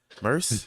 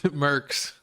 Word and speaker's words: Nickmercs: How you say his name? Merce? Mercs. Nickmercs.